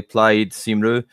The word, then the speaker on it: Plaid Cymru: The thing is pronounced, if I remember correctly, Plaid Cymru, and it means like Welsh party essentially.